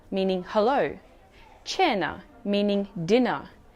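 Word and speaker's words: cena: k sound but why one rule to remember is that c followed by e or i makes it a soft c h sound for example chao meaning hello chenna meaning dinner chitta meaning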